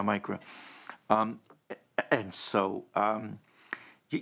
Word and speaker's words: MICRA: and forth um that micro m-i-c-r-a i think it's pronounced yeah micro um and so um